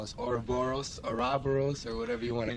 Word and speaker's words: Oroboros: The Greek pronunciation of the name is OROBOROS.